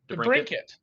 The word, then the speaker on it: DeBrincat: DeBrincat.